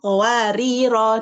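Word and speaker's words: قواريرا: qawarir Heeh nah itu qawarir nah itu ada tiga cara bacanya ituar jika berhenti di ayat 15 eh di ayat 15 rnya dibaca panjang kemudian jika dibaca wasal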